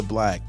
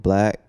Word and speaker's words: 6LACK: by the name of black 6l ACK and no matter what you think it's still pronounced black yes people still mispronounce